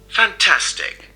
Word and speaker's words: fantastic: Vous entendez bien que donc la deuxième syllabe est accentuée plus que les deux autres.